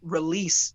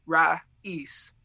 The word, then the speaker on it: Ra'eese: say it right see somebody called me release before that's awesome they added a letter i love it so it's is it am i saying is it yeah yeah it's actually super easy you just break it down you got it right though raw east okay yeah i mean